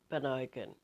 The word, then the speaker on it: Bonogan: But I did end up, and I wanted to be at the sea, and I ended up at an Airbnb in Bonogan, is how it's pronounced.